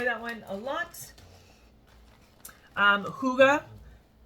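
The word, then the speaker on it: hygge: one a lot um Huga not how it's spelled but how it sounds I think that's how you're supposed to say it cashmere Cedar sugar cookie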